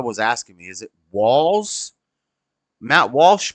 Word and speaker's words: Walz: Is it Walz? Matt Walsh pronounced it Walz. They're saying Walz. So it's not like Tim Waltz. There's no T in it, so I guess that makes sense.